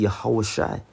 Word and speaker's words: Yehoshua: Joshua, man, Yehoshua, which I have to keep stressing, is close, but the correct pronunciation, when you get into Hebrew grammatics, it would be Yehoshai.